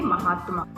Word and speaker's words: महात्मा: महात्मा। इसलिए सही तरीके से हम उच्चारण करेंगे तो सही तरीके से हम लिख पाएंगे।